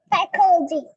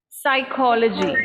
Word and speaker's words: psychology: Okay, now if I look at the spelling of this word, it starts with a P. So I would assume the spelling Psychologist. pronunciation also would start with a P, but whereas it starts with a S sound.